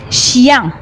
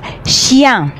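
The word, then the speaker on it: chien: ان شيان، يلا معايا كده انطقوا شيان.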